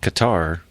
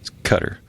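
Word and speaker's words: Qatar: u with q well the last time i heard it pronounced katar right and then somebody told me it's kind of like gutter but it's a cutter right i don't know it's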